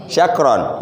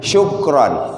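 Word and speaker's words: شُكْرًا: Syakron. Dia bukan syakron tapi syukron. Gitu. Beda dikit lah A dengan U.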